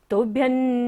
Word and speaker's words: तुभ्यं: हमेशा न वर्ग, तो हमेशा बिंदी का उच्चारण क्या होगा? न। तुभ्यं नमो जिनभवो दधि, भवो दधि शोषणाय।